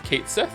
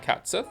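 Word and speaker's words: Cait Sith: whatever they confirmed that the name is a mispronunciation that sounds how that sounds how it reads. So So it's Kate Sith, it's not Cats Sith.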